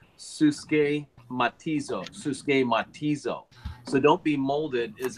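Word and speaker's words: συσχηματίζω: It's pronounced suske matizo.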